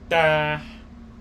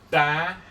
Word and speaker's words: tá: It makes it that vowel sound, open vowel sound, and stronger. You're going to pronounce it ah.